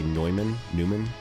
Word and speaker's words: Neumann: Anyway, for those of you that care about audio stuff, this is how you say Neumann, and I'm not the biggest fan of like a pop filter you have to like attach.